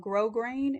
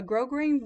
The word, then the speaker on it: grosgrain: They also have a ribbon called grosgrain, and it's spelled like gross grain, Gross grain. A grosgrain ribbon has a very